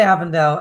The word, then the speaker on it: Avondale: And were these all varieties, grape varieties, which have historically been grown at, you pronounce it Avondale. We should say Avondale. Avon is just like such an English way to say it, but at Avondale, are